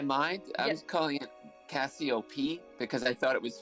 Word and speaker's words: Cassiopeia: did you say um when i first read the blurb i thought it was cassiopeia it's like the name uh uh calliope i i first pronounced it as calliope there you go cassiopeia yeah there you go